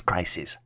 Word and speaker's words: crises: The plural version for crisis is spelled as crises and is pronounced as crises.